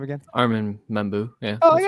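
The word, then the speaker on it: Armand Membou: And then we have, I mispronounced the name, didn't I? Arman, how do you say his last name again? Armin Membu.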